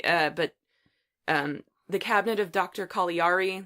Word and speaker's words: Caligari: Caligari there's another pronunciation that people generally say different like alighieri yeah but it's it's Italian so I think it's supposed to be collie re but regardless that set